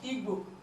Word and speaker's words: Igbo: We have example like Igbo. You know, it is Igbo. You cannot pronounce G separately and B separately. No, the two of them is pronounced together.